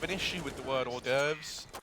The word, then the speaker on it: hors d'oeuvres: Also, I do have an issue with the word hors d'oeuvres. It looks like it should be pronounced horse d'oeuvres.